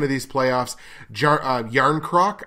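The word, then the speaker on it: Järnkrok: these playoffs jar a yarn crock I think is how you pronounce his last name or John Kruk but i think it's yarn croc or yarn croak or whatever jay-ar nkr okay yarn crock and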